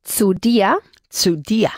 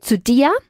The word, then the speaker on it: dir: Sí, como día. La D fuerte. Okay. Zu dir, y luego también veremos a mi casa.